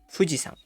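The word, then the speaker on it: 富士山: Di sini saat berdiri sendiri dia dibaca yama. Tapi saat berpasangan dengan nama gunungnya cara bacanya akan berubah menjadi sang. Jadi gunung itu yama tapi gunung fuji dibaca fujisang.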